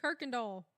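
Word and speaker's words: Kuykendall: that's like K doll it's spelled nothing like Kirk doll right you would never know that but it's you can't get away here saying K doll or Kirk doll yes but there's Noll at all no it's Kirk and doll but no R like Kirk and doll d a h l yeah but spelled but it's spelled KY k y it's like in Louisiana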